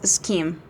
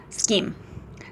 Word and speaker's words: scheme: comb uh convinced that the word scheme was pronounces schim shim or well I don't know um I